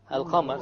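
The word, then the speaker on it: القمر: Al-Qamar. So again, we have the moon, the lunar letter, which is the qaf over here. So we pronounce the lam.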